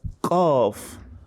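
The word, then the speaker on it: ق: So it shouldn't be pronounced as kaf or kef. No, it is wrong. You have to pronounce it as qaf.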